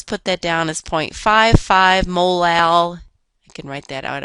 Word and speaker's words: molal: units of ethylene glycol notice that this term is pronounced molar the little m is pronounced molal a molal solution of